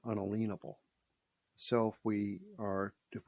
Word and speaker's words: unalienable: to the word unalienable we pronounce it unalienable right uh that's the way it was pronounced unalienable so if we are